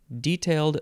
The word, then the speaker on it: detailed: detailed their grievances so there I pronounced it with the emphasis on the first syllable which I think made sense detailed their grievances they were